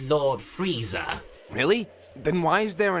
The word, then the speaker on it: Frieza: i in the name frieza it's just that this r i is always pronounced re as opposed to rye another good example of